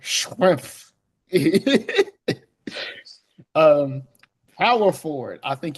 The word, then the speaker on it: Schrempf: And yes, you pronounce every letter Shrimp.